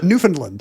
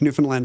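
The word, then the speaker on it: Newfoundland: not Canadian I can say uh what is it newfinland I don't have to say Newland with no d and a and a a short a New Finland and Toronto we can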